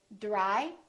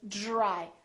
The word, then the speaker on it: dry: we say Dr D so we don't say dry we say dry so this Dr sort of becomes like the letter j j j or the phonetic symbol looks like this if you look in your dictionary this is the symbol it's j j except it's a little softer and a little shorter it's not dry it's D dry just use the tip of your tongue a little bit dry all right so this